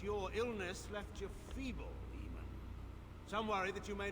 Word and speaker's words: Eamon: How long you've been gone from court, Eamon? Don't you recognize? Oh, and he pronounces it more like Aemon.